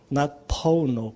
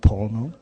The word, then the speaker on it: Pono: whole ponopono Pono yeah it's not porno Pono and and the doctor